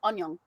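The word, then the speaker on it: 안녕: But when you're saying it short, it's still just annyeong. But it's still longer than hi. You say onion? Yeah. What? Sounds like it. Onion. Annyeong.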